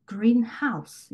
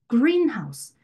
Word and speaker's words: greenhouse: 의미가 형성이 되는 애들이 형용사 명사의 관계면 명사 부분에 강세를 준다. greenhouse 이런 식으로 blackboard 이런 느낌이죠. 그런데 형용사와 명사로 이루어지긴 했으나 이 두 단어가 한 단어로 복합어가 되어서 새로운 의미를 나타낼 때는 앞에 있는 단어에 강세를 줍니다. 그래서 greenhouse, 온실이라는 단어로 새롭게 탄생한 단어잖아요. 이럴 땐 greenhouse가 되고 blackboard, 칠판이라는 의미로 다시